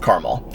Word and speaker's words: Carmel: It's called Carmel, Indiana. Anyway, it's like Carmel, California, but it's pronounced Carmel.